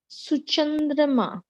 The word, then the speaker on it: Suchandrima: सुचंद्रमा. Ashutosh pronounced it correctly.